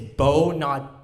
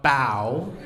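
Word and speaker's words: Bao: It's Bo, not Bow, but it's spelled B-A-O and not B-O.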